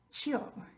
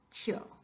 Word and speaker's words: tío: Tío, tío, es ridículo. No queremos decir tío, sino tío. So what we want to do here is break up the diphthong.